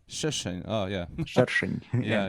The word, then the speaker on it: Sršeň: And my last name for absolutely insane pronunciation, Sršeň is my last name, which is called like Hornet. But I don't know how is it called in Russian, but it will be... It's Sršeň.